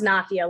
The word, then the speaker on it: Nafia: It's actually pronounced Nafia, like mafia with an N, but thank you.